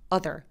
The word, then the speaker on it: other: 아더피플이 아니고요 이렇게 소리냅니다 아더가 아니라 other 이렇게 그래서 other로 되어 있는 발음들이 거의 다 이런 소리가나요 그래서 남동생은 브라더가 아니라